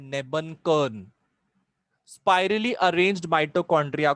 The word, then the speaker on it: Nebenkern: ये spirally arranged mitochondria को हम लोग बोलते हैं नेबनकर्न।